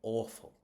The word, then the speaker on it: awful: So it's going to go in the first syllable. It's awful.